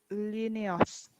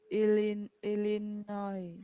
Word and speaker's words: Illinois: Stands Starts with I and finishes with S, but we do not pronounce S.